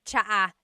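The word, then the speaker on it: tsaa: Polyglot said it's like the word cha. Cha in Tagalog is t like the tea that you drink. And it's spelled ts aa aa. Cha. Cha. That's such a Tagalog spelling. I love it. There's the ts sound and then the double vowel uh pronunciation.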